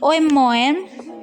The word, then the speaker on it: oem-moem: Penulisannya oem-moem, tetapi pelafalannya umum.